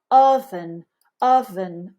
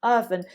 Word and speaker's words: oven: uh uh uh uh make your mouth as soft and lazy as you can oven oven it's not oh oh oh no it's uh uh oven oven this one is love